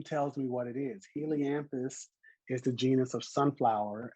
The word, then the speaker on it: Helianthus: So this one, I say Helianthus. You say Helianthus. Helianthus.